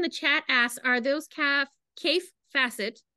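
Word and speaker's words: Kaffe Fassett: So somebody in the chat asks, are those Kaif Facet, that's how that pronounces his name, right?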